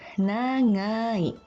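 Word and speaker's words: 長い: Huruf G diucapkan seperti dalam bahasa Indonesia, bila letaknya di awal kata. Tetapi bila letaknya di belakang atau di tengah kata, diucapkan seperti eng atau ring dalam bahasa Inggris.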